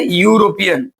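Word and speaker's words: European: लेकिन अगर कोई ऐसा शब्द आ जाए जैसे हम लोग बताए थे यूरोपियन यू यूरोपियन अब देखो यूरोपियन में यू वोवेल जरूर आ रहा है लेकिन इधर अगर उच्चारण करें तो यू आता है कौन सा आता है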